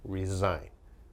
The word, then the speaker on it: resign: Resign. Be careful with the pronunciation. It's resign, resign.